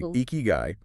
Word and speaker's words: Ikigai: That's kind of how eeky guy hit me. And well, that's exactly what we're getting into in this deep dive. Exactly. Eeky guy. It's pronounced roughly eeky guy.